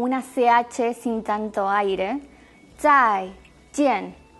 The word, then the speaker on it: 再: Otro ejemplo era zai jian, chao. Zai, esa Z que suena como TS, zai. Y jian, la J como una CH sin tanto aire. Zai, jian.